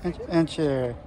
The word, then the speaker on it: Archeer: How do you pronounce the name? Archeer? Yeah. Archeer.